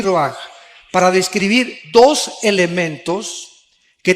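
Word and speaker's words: רוּחַ: Aquí se usa otra palabra hebrea, que se escribe ruach, con R de Raúl, A-C-H, se pronuncia ruach.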